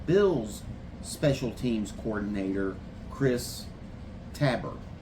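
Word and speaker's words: Tabor: special teams coordinator, Chris Tabber. At least that's the way I'm pronouncing it. I haven't really heard people say it very often. So Tabber, T- A B O R. So we're going with Tabber.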